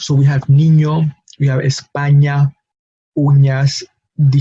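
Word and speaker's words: niño: not have in English its pronunciation however it's not new to English speakers is something very similar to what English speakers pronounce when they see the letters and in Y together as in the word Canyon Kanyon produces a similar sound as the letter nu in Spanish so we have Nino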